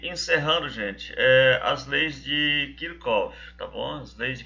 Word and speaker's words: Kirchhoff: Então, se vocês virem alguém chamando de Kirchhoff, é comum. Eu acho que Kirchhoff é mais utilizado do que Kirchhoff, Mas a gente entende que pelo fato de ele ser alemão, tal, a pronúncia mais correta seria Kirchhoff, tá bom? E é assim que eu uso, tá ok?